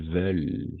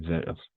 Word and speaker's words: veulent: ENT à la fin, on ne le prononce jamais. Où ils veulent, d'accord? Où ils veulent.